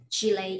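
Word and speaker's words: Shilei: do you work for chile interpreting like chile the country chili oh can you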